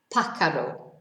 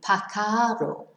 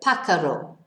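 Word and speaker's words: pájaro: you didn't know and the accent is on the a because otherwise it would be pacaro which actually I think is quite rude in Spanish so pakaro and the second word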